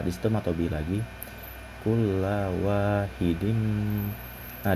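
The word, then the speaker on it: وَاحِدٍ: Di situ matobi lagi, kulla wahidim. Nah, di situ terdapat hukum idgham bigunah karena terdapat huruf berharokat tanwin yang bertemu dengan huruf-huruf idgham bigunah, yaitu mim, sehingga dibacanya berdengung.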